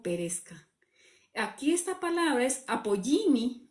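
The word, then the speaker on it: ἀπόλλυμι: Aquí esta palabra es apoyimi o se pronuncia apoyimi en griego y significa igual que abad.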